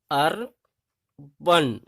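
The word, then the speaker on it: urban: जब किसी शब्द के अंत में AN, AR, AL, ANT, ANCE हो तो वहां ए का आवाज जो है, ए का उच्चारण आ होता है।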